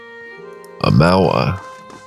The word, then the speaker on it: Amawa: Amawa is how he pronounced it. So, that's what we're going to go with.